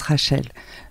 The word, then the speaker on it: Raechel: Donc c'est pour ça que ma mère d'ailleurs a écrit mon prénom ainsi pour que à la base pour que les Français le prononcent le prononcent Rachel parce que ils ont